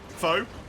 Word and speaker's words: faux: Yeah, no, we just don't pronounce that X because we took it from French. Don't worry about it. Faux.